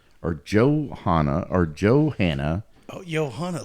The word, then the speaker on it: Johanna: Joan or johanah oh Johanna like in at Bob Bobby Mackey's mus it's spelled j o h a nna pronounce it how you will but I'm going to call her Johanna joh Johanna Barnes a